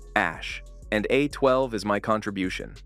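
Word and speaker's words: Æ: E is pronounced Ash.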